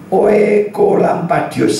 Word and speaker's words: Oekolampadius: Oekolampadius, saya bacanya benar.